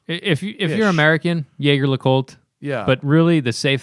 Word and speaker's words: Jaeger-LeCoultre: Yager le Côte? GG is is the most Americanized pronunciation of the second part. Is it like Colt? C-O-L-T? Yeah. Yeah. Yager le Côte. If you're American, Jaeger LeCoultre.